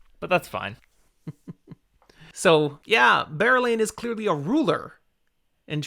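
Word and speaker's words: Berelain: her name bearlain really you say that one with only two syllables yes bear lane i always did a barrel lane for that one really this one might be the i'm horribly wrong just like you're horribly wrong on jewellen but yeah i was a three syllable one anyway first of my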